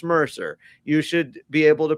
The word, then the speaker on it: Mercer: You should know that number 91 is not Merkel, it's Mercer.